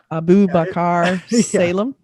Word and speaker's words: Abubakar Salim: Can you pronounce this name? Abubakar Salim.